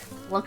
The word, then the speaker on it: Lunk: Lunk is awesome. Lunk rhymes with hunk.